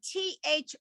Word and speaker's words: through: But if I gave you the word T-H-R-O-U-G-H, I'm going through town, the GH is silent.